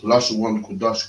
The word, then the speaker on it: Lashawan Qadash: And this is the Friday night Lashawan Qadash class.